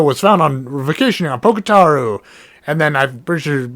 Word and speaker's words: Pokitaru: But yeah, Pokitaru, that's what it is.